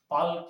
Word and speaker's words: Palk: L silent होने के कारण इसको कई बार हम पाक की खाड़ी भी कह देते हैं। वैसे देखा जाए तो ये PALK, पाक की खाड़ी के नाम से है, लेकिन पाक की खाड़ी कहते हैं।